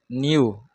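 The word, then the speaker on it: nu: मतलब ऐसा बना दो आप न्यू pronounced as न्यू knee you एन यू न्यू इसको प्रोनाउंस करते न्यू और लडा को कैसे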